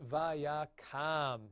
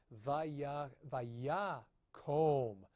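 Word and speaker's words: וַיָּקָם: therefore, whatever you do, do not pronounce this vaya kam. No, vaya kom. You've got to have that as an O vowel there at the end.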